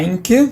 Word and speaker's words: Reinke: A pronúncia tá quase, a pronúncia é Henke.